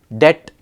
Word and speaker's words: debt: honest H is silent debt B is silent column n is silent